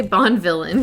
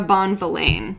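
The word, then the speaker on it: Bonvillain: it bon valene yeah i always say bond villain because i know it's great i always pronounce it wrong too but i'm pretty sure it's tamara bonvellain yeah no that makes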